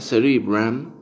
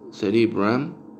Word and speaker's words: cerebrum: En latín sería cerebrum. Y en inglés se pronuncia cerebrum, cerebrum o cerebrum.